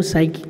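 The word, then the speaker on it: psychic: पी यहाँ पे silent है, इसका प्रोनाउंसिएशन नहीं है, यहाँ से इसको बोला है साइकिक।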